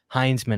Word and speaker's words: Heinzman: to be, the Bill Heinzman. I was saying a guy's name wrong. I was saying Hinsman, but his name's pronounced Heinzman.